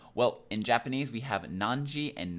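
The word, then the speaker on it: 何時: Well, in Japanese, we have nanji and nanpun for that. Notice that it is not naniji and is not nanifun. It is nanpun and nanji. That is the correct way to pronounce that.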